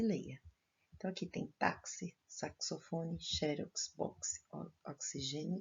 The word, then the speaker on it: táxi: Então, aqui tem táxi, saxofone, xerox, box, oxigênio e durex. Se escreve com X, porém o som é de CS.